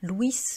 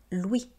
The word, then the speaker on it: Louis: Vous voyez qu'ils finissent par la lettre S et en français, on ne prononce pas la lettre S. Donc on ne dit pas Louis, on dit bien Louis.